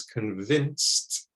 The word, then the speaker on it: convince: the second way is convinced you again don't want to say it like an eye like in wine it's softer convince convince not i